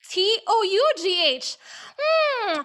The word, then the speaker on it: tough: Well, do is spelled out as D-O-U-G-H. Well, how about this word? T-O-U-G-H. Well, if it's do, this is toe, right?